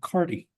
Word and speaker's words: Carta: different branches descendants today they still pronounce the name cardi so but when you ask them how to spell it or you get specific they say oh it's Carta but if they're just talking